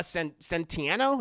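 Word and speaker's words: Centineo: Adams like I said Noah sentieno is how you say his name Adam Smasher wasted given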